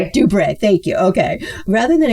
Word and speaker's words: DuBre: everything for 19-year-old Daryl Dubris. And is that how you pronounce it, Susan? I meant to ask you before that about that as well. No, no, it's uh it's it's Dubra. Dubre.